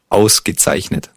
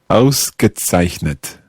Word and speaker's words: ausgezeichnet: Ausgezeichnet. Let's take it syllable by syllable. The first word, the first syllable. Aus. Gezeichnet. Zeichnet. Ausgezeichnet. Yeah, very good. Ausgezeichnet.